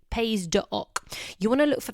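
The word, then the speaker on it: Pays d'Oc: on a label is paydoc so it's spelt pays with an s on the end d apostrophe oc pays doc you want to look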